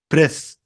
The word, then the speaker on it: breath: allergy allergy at least at least bacteria bacteria bedding bedding pin pin breath breath breathe. خلي بالك من النطق الأولانية breath لأنها اسم النفس، لكن التنفس أو يتنفس بقى اللي هو الفعل breathe.